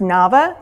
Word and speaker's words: Navah: ever wanted to know how to say my name it's Nava so Java but with an end so there's there's my